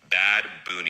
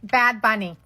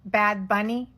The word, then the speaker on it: Bad Bunny: 2025 Super Bowl halftime show will be performed none other than Bad Boon. Bad Bunny. It's uh Bad Bunny. Not It's not pronounced Bad Boon.